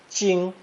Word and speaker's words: 精: pronounced first tone, jing, jing.